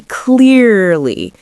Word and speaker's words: clearly: So first of all, clear is the part we stress. So we say clearly.